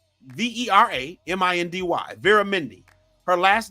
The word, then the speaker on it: Vera Mindy: culture Mindy King's first name ain't Mindy it's Vera Mindy v e r a m i n d y Vera Mindy her last name isn't Kaling it's